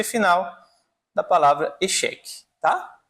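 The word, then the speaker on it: échec: O park é geralmente o C no final ele vai ser pronunciado, como na palavra também echeque, né?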